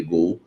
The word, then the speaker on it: Goal: do site Gol né se escreve goal mas é se lê Gol site gol deu a